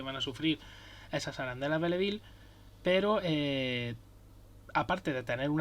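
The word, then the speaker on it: Belleville: llama arandela belle ville que es como se escribe o belle ville cómo se pronuncia y realmente es un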